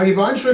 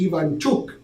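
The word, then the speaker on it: Ivanchuk: the the favorite now ivant truk is gonna have a tough time winning because I'm pronouncing his name wrong so you Americans know what I'm talking about right but it's actually Ian chuk okay and and chukie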